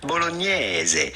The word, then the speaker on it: bolognese: Yeah, I think in English they say bolognese, but yeah. But the typical Italian pronunciation would normally be spaghetti bolognese, spaghetti bolognese.